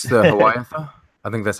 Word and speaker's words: Hiawatha: And Hiawatha.